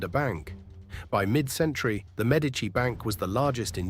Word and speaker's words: Medici: The whole world says Medici. Italians say Medici. The stress on the first syllable.